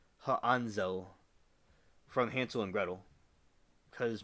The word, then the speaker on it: Hansel: name you probably already know is Hansel and pronounced H anzel from Hansel and gredle cuz my my whole